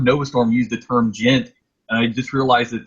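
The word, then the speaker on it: djent: And when I was actually looking it up on Google, they actually I heard Nova Storm use the term gent, and I just realized that is spelled D-J-E-N-T.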